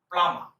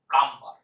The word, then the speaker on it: plumber: সমস্ত মিস্ত্রিরা আসে তাদের এর সঠিক উচ্চারণটা হচ্ছে প্লামা। প্লামা। ভুল করে বলবেন না প্লাম্বার। অনেকেই ভুল করে এটাকে প্লাম্বার বলে। কলের মিস্ত্রিকে অনেকে প্লাম্বার বলে। উচ্চারণটা প্লাম্বার নয়, উচ্চারণ হচ্ছে প্লামা। প্লামা। রটাও উচ্চারণ হবে না, এই আর এর উচ্চারণ হবে না, বি এর উচ্চারণ হবে না, এই দুটো উচ্চারণ সাইলেন্ট থাকবে।